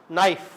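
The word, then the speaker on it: knife: नाइफ। Spelling क्या है? के एन आई एफ ई। के साइलेंट कनाइफ नहीं बोलते इसको के लिखा हुआ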